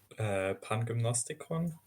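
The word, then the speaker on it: Pangymnastikon: Lou, how do you pronounce it? Pangymnostikon.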